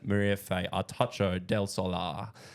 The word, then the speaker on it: Mariafe Artacho del Solar: Commonwealth Games medalist it's n none other than Maria Fay artacho Del solar very good that was actually really good and